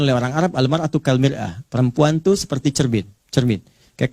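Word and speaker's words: مرآة: Bahkan sering sekali orang Arab punya perumpamaan dengan mir'ah. Ya, kalimatnya sama, cuma cara bacanya beda. Al-mar'atu kal mir'ah. Yang satu pakai fathah, yang satu pakai kasrah. Muru'ah itu punya 3 arti.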